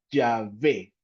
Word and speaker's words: Yahvé: al nombre de Dios la palabra Jehová en hebreo se menciona como yahvé y algunos eh especialistas en hebreo mencionan que yahvé viene del hebreo ha o Hai el que es ser yahvé es el nombre personal